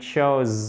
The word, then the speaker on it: shows: 3e personne du présent, ok, au singulier, and it shows the. Le S, il faut le prononcer.